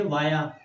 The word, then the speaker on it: via: Next preposition देखिए, वाया। वाया या विया दोनों तरह से आप इसको प्रोनाउंस कर सकते हैं।